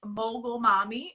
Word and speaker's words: Mogul Mommy: called mogul mommy and so many people have a problem pronouncing that guys it's mogul mommy okay and mogul means